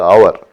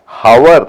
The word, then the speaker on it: hour: அதை நான் அதனுடைய உச்சரிப்பு எப்படின்னா ஹவர் அப்படின்னு சொல்லக்கூடாது. HOURனுடைய உச்சரிப்பு ஹவர் இல்லை, அது வெறும் அவர் தான். அந்த ஹெச்னுடைய உச்சரிப்பு கிடையாது.